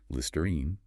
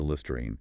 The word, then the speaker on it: Listerine: Key thing here is the final syllable. It doesn't reduce. It has a clear long e sound. Listerine. Don't shorten to lististerine.